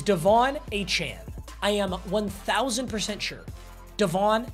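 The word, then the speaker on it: De'Von Achane: By the way, the correct pronunciation is Devon Achane.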